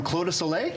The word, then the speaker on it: Clos du Soleil: to go with it we have Spencer from clo to Soleil yes did I pronounce that right you did awesome thank you